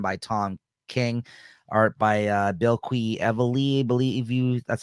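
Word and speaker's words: Bilquis Evely: This is the last issue of this 8-issue miniseries, written by Tom King, art by Bill Quee Evely, that's how you say her name.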